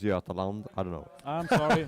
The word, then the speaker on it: Götaland: Sweden Gotaland, Christopher Wedding's team. Okay, the wedding team. Yeah. It's actually pronounced Götaland.